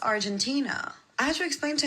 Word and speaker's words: Argentina: oh, by the way, I wanted to tell you, it's not pronounced Algeria, it's pronounced Argentina.